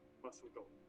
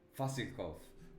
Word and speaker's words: Vasilkov: Vasilkov. Vasilkov.